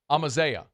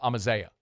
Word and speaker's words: Amaziah: They say it's like Amadeus but like with a Z and no S at the end. So Amaziah.